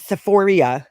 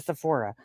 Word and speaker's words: Sephora: kind of like how she says sephoria instead of Sephora she's so nasty her